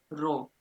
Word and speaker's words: rho: इसको हम रो कहते हैं, RHO। प्रोनाउंसिएशन क्या है इसकी? RHO, जिसको कहते हैं रेजिस्टिविटी।